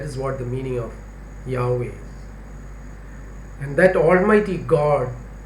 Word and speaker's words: Yahweh: It is not Jehovah, it's actually Yahweh. It's pronounced actually Yahweh. That's how the Jews pronounce it.